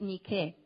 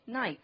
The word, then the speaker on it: Nike: La palabra Nike The word Nike es una palabra griega is a Greek word, que se pronuncia Nike. and it's pronounced Nike. En Estados Unidos Nike. In United States, Nike.